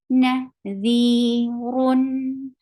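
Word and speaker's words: نذيرٌ: The 2 counts long because ya sakina qablaha maksur. Ya sakina followed by kasra. Nadhirun. You are giving tawassut because you are pronouncing tanween, because you know that there is a noon sakin hidden in it. Nadhirun. How will you stop? You will give sukoon at the end.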